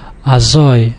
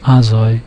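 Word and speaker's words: אַזוי: again the last syllable, azoi, again the last syllable, not azoi, which you would assume from the rule that we mentioned before, that it falls on the second syllable from the last.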